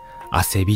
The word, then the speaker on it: 馬酔木: 馬通うキっと書いてアセビって読むらしいです汗びって感じ